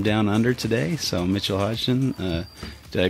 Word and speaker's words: Hodgson: We've got a special guest from down under today, so Mitchell Hodgson. Did I pronounce that right? Let's see. Yeah, that was pretty good, yeah. Hodgson?